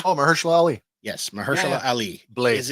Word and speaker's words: Mahershala: terrible at this tonight I apologize if I mispronounce this one uh mahalah oh MERS Ali yes Mersa Ali blade is in the other